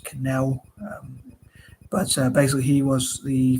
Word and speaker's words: Cannell: It reminds me of Canal, but I think it's pronounced Canal.